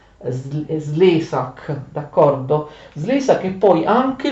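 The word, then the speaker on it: Szlezák: Un ungherese, credo che sia un ungherese, che si chiama Slezak, con l'accento sulla E, anche se c'è un accento sulla A, significa solo che questa A è lunga, ma l'accento è sulla prima sillaba.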